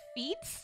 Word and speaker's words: Fi: I love feet you I like Faye Faye or five wait really no way f i how could it be pronounced anything other than fee I refuse I